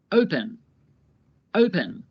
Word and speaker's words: open: The first syllable is stressed, open. Stressed means there is more emphasis on that syllable. Listen to the verb again and pay attention to the part of the verb that has more emphasis when I say it. Open, open. The O is stressed.